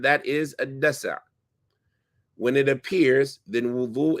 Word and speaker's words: دسع: That is a dasa'. Just make sure we're pronouncing it right. Dasa'. Now with the sukoon, الدسع مصدر دسع والدسع يسدع دسوعا دسع شيء دفعه.